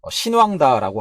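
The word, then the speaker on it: 欣旺达: 그 중국의 배터리 제조사인 선우다, 이게 또 한자의 중국 발음으로 하면은 신왕다라고 하더라고요.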